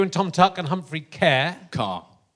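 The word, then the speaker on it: Ker: that was you and Tom tuck and Humphrey care car spelt like I think it's a vehicle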